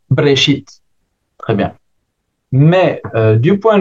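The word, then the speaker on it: בראשית: et s'en suit que dans une prononciation massorétique au commence au commencement se dit brchit.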